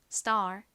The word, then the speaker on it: star: 나는 AR 이렇게 씁니다 S 바로 뒤에 t 와서 거상 디귿 럼 좀 세게 발음이 나죠 따라해 보세요 star star 좋습니다 같이 적어